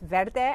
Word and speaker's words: verde: and i'm principal with verde architecture consulting and you pronounce verde just like salsa verde and it means green in spanish and what we do